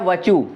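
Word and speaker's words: virtue: पाप, सिन, सिन मीन्स पाप, और पुण्य है वचु। वचु, इसमें आर साइलेंट है, हमेशा आपको बताया ना, बीच में आर आता है तो साइलेंट होता है।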